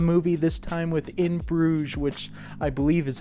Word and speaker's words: Bruges: We are jumping back into another Martin McDonagh movie, this time with In Bruges, which I believe is how you pronounce that name.